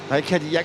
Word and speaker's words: Cadillac: Cadillac, c'est bien français, hein, le nom, on prononce à la française parce que c'est un petit gars qui vient de France, qui vient à côté